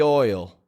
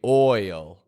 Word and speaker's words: oil: squeaky wheel gets the oil. And you get that clear oi when you say oil.